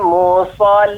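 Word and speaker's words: المصلين: Nah, ini saya sekedar mengingatkan agar tidak monyong ketika pengucapan so. Tidak musallin tapi musa. So, bibir tetap datar.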